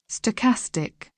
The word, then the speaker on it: stochastic: Stochastic.